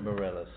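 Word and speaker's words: Meirelles: I think I always pronounce his last name wrong. Morelos, yeah. Morelos, thank you.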